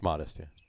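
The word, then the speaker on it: Modist: do some other stuff does it pronounce modest it's modest spelled modest it's modest like dudeist right like mortalis is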